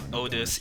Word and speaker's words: Otis: Also, it turned out it actually is pronounced Otis, even the game said so, so my apology for that.